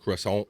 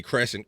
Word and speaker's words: croissant: croissant right Bobby Nick that's right yeah croissant pronounce it croissant yeah I think I had I think I had to like kind of uh learn to say that right I think we say Crescent got get one of them Crescent ACC yeah